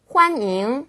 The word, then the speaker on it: 欢迎: 환잉. 예, 발음도 비슷합니다.